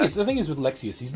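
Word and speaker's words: Lexaeus: okay they do say they do say lexius yeah I say Lexus but whatever yeah lexius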